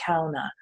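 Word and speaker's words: Kenaz: route like right now the rune is Kenna's or some the original pronunciation would have been Kona that is the room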